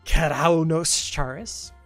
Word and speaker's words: Keraunos Charis: Lunatic increases the combo multiplier for her allies and increases the power of Keraunos Charis. That is the canon pronunciation. I am declaring that independently myself.